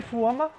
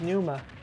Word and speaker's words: Pneuma: forgetful style forma zapfish did you say fuama i couldn't pronounce it right i'm sorry it's pneuma that's an n newman okay um by